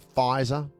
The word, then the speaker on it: Pfizer: I've had both my jabs of the Pfizer. The P is silent. The P is very silent.